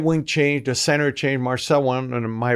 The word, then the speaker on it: Marcel: So I yelled in French, "Marcel!" That's how you would say his name.